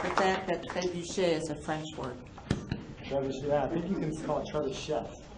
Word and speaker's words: trebuchet: I also like the fact that trebuchet is a French word. Trebuchet, I think you can call it trebuchet. No, trebuchet. Trebuchet. You don't pronounce the T.